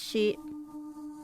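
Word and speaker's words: 四: four you know y4 because it's pronounced she or you can say yon as well but she um i think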